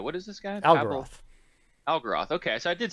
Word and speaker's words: Algeroth: Algeroth.